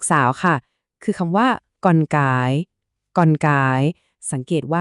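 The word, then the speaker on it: con cả: คน โต สุด เนี่ย เรา จะ เรียก ว่า กอน ก่า กอน กอน ก่า ส่วน ลูก คน กลาง ก็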